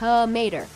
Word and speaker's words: Mater: If you struggle how to pronounce his name, here's how he explains it, like Mater, but without the "ta."